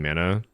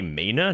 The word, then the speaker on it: mana: You say mana? No, people say mana. Mana is a word from Maori, and they pronounce it like Mortdog.